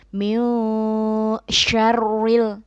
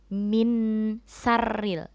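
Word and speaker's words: مِن شَرِّ: Anak-anak, ketika membaca min syarril, kita samarkan dan dengungkan huruf nunnya dan siap masuk huruf berikutnya yaitu huruf shin. Jadi bacanya min syarril bukan min sarril. Di situ huruf sya bukan sin. Jadi kalau di dalam tajwid ini dikenal dengan bacaan ikhfa.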